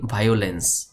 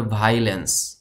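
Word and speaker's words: violence: village গ্রাম, ভায়োলেন্স উৎপীড়ন আমরা এই শব্দটিকে অনেকে বলি ভায়োলেন্স, ভায়োলেন্স বলা যাবে না, এটাকে বলতে হবে ভায়োলেন্স, ভায়োলেন্স মিন উৎপীড়ন, ভ্যাকেশন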